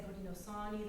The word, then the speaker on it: Haudenosaunee: Around here, you'll more commonly hear people saying Haudenosaunee. That's the Seneca pronunciation of it.